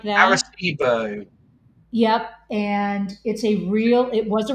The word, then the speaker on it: Arecibo: Eris, how do you pronounce it? Arecibo? Arecibo.